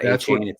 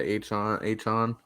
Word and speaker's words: Achane: did Mostert, so did Achon, or, isn't that what he said his name? It's not Achane. That's what he wants it now. Yeah, Achon. Yeah, Achon. Achon, I think it's what he wants to pronounce.